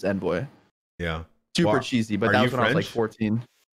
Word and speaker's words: Envoy: But I mean, the American way to pronounce it is Envoy.